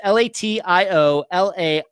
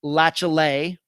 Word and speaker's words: Latiolais: Let's get to this Friday's disappearance, the disappearance of Jake Latiolais, and that is how you pronounce his last name. His last name is Latiolais. Jake Latiolais.